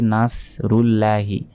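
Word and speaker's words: نَصْرُ اللَّهِ: আছে জাসরুল্লাহি অনেকে বলি নাসরুল্লাহি নাস বললে এখানে সদের জায়গায় সিনের উচ্চারণ হয়ে যাবে এখানে তো আছে সদ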